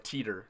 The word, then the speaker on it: Titor: In Japanese, they called him Titor. Is that how they John pronounce it? Titor. Oh, Is what I don't know what English sounded like. Yeah, teeter was in English.